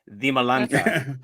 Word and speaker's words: Dimalanta: We say pronounce it like in Spanish, Dimalanta.